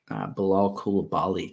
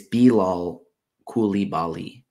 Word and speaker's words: Bilal Coulibaly: So this isn't the first one, but Bilal Coulibaly just went off. Or no, excuse me. It's Bilal Coulibaly.